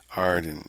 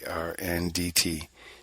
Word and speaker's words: Arndt: chiefly by the excellent John Arden, that's Arndt, General Superintendent of the churches under the princes of, it's spelled Lunenbourgh.